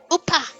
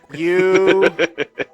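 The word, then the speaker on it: ウパー: Upa. How do I spell that? Just get rid of the W. U-P-A-H.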